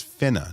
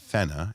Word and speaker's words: finna: finna it means Gunna no it's finna not fenna it's finna it's spell both